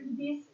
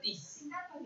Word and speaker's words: this: Nah, kenapa kita membacanya ini pakai D? Kan kita bacakan bukan T, bukan tis, tapi this is the table and this is the door.